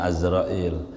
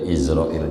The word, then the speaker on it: Azrail: Yang benarnya bacanya Azrail. Cuman kita udah kadongan dah ramai-ramai Arab gundul gitu. Udah izrail jadi aja. Udah dah gundul ini yang mana kayak bacanya dah. Iya udah kandungan izrail kata kita.